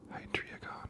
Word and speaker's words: Hydreigon: It is Hydreigon.